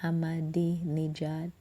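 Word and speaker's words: Ahmadinejad: policy Oh ever changed when Hammadi Nia Jehovah pronounce his name properly hammadi nejad called for reversal of Iran's existing two children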